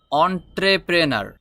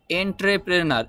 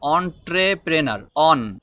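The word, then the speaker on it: entrepreneur: হচ্ছে এটার উচ্চারণ হবে এন্ট্রেপেনার এরকম উচ্চারণ হয়তো হতে পারে এরকম আমাদের কাছে মনে হচ্ছে কিন্তু এন্ট্রেপেনার বললে হবে না এটার উচ্চারণ হবে অনট্রেপেনার অনট্রেপেনার অনট্রপ্রেনার মিন উদ্যোক্তা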